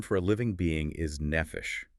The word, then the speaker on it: nephesh: The Hebrew term for a living being is nephesh. It's pronounced n e f e sh.